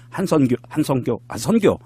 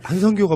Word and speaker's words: 한선교: 한성교가 뭐예요? 한성교. 선교래니까 그러게.